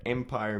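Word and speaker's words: Mpyre: So right now, in SA, you can go to the Empire Music Store. It's spelled M-Pyre.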